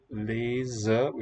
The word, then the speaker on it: lezen: Lezen, if it's between vowels, it's voiced z, spelled with z. And here next to the voiceless T, also in a coda, it's voiceless.